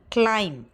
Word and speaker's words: climb: And for MB at the final stage sometimes, and for example, climb, plumber, comb, tomb.